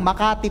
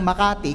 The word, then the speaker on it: Makati: Did you know that by history ang Makati po ay not hindi talaga siya binibigkas ng Makati kundi makati?